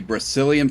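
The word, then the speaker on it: Brecilian: what we can all right welcome to the Brazilian forest and that is spelled b r e c i l i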